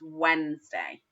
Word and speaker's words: Wednesday: word is Wednesday and it is spelt as if it's as if it's gonna be spoken as web nest day but it isn't it's Wednesday Wednesday let's say that together